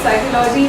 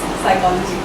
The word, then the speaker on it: psychology: pronunciation today's word is psychology and it's normally mispronounced as psychology which is wrong so it's psychology unfortunately our counter and prier they don't shake